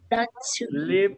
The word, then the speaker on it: sleep: Recuerden, chicos, que en este caso, cuando encuentran una S por delante, solamente van a pronunciar el sonido de la S. ¿Ok? Sleep. Sleep. ¿Ok? No hay ninguna E adelante, chicos. Entonces sería sleep. ¿Ok?